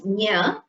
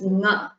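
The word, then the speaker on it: ङ: So you don't pronounce it as nya, it is nga. Nga. Nga, just nga. It comes from the throat as well as from the nose.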